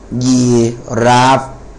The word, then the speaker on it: ยีราฟ: fun ending อย่าง เช่น คำ ว่า อ่า ยักษ์ สระ อี ร เรือ สระ อา ฟอ ฟัน นะ ครับ อ่าน ว่า ยี ยีราฟ นะ ฮะ ยีราฟ นะ ครับ อ่า ดู นะ ครับ